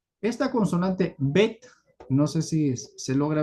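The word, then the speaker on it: בּ: Entonces, esta consonante, como ustedes verán aquí, cuando tiene el punto en su interior, su pronunciación debe ser bet. y su equivalencia es una B de bueno.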